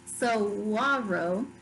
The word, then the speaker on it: saguaro: The saguaro, pronounced saguaro, only grows in the Sonoran Desert of Southwest North America.